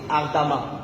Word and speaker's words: ardemment: par exemple, vous dites ardemment. Vous voyez? Ça veut dire que lorsque après E, on a deux M, on lit ça A. Vous voyez? Comme ardemment. On dit ardemment.